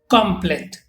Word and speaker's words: complète: Like in this case, for masculine, we use complet, T is not pronounced, and for feminine, we use complete.